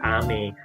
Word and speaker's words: Ame: I pronouncing my name, it's called Ame-san. It's Ame. But in the sense, it's like if you mispronounce it, called Ame, it can be misinterpreted as candy.